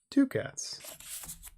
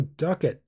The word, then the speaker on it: ducats: an easy way of getting ducats to cats I'm gonna learn what that is I'm not gonna share Homer Oh duck it oh man I was mispronouncing it fine right okay gold